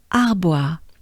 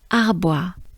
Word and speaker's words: Arbois: writers will arrive in arbois. Arbois. So here we have the French a, a. We have the bois, wa. So bois, bois. Encore bois, arbois.